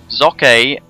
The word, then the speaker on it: Socke: Socke, that is how you pronounce it. I do want to just put that out there. It's not Socke, or you flids calling him Socke. It's Socke.